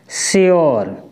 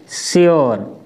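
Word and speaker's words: sure: पहले बताया था ना अगर यू के बाद आरई यानी कहने का मतलब यू के बाद आर ई आता है तो वहां पर हम हमेशा य का उच्चारण यो से करते हैं किससे यो जैसे एस यू आर ई इसको हम क्या पढ़ेंगे श्यर क्या पढ़ेंगे श्यर पी यू आर ई इसको हम पढ़ेंगे प्योर क्या पढ़ेंगे प्योर आई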